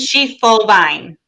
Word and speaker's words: Schiefelbein: pronounce your last name it's three sounds she full vine schiefelbein i my apologies